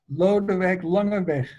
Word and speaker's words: Lodewijk Langeweg: Yes, it's a Dutch name. How do you say it? Lodewijk Langeweg. It means, in English, it would be Louise Longway.